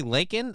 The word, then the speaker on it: Laken: sexual about my show leak Riley her name is really Laken I thought it was